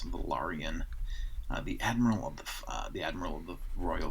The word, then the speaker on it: Velaryon: It's spelled very much like Valerian, but it's Velaryon.